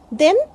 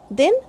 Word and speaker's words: the: Again, if THE is used before consonant sound word, before consonant it is pronounced as the. For example, the bananas are rotten. The bananas, the and a. Two sound symbols are here. But if there is a vowel sound, then we say the apples are rotten.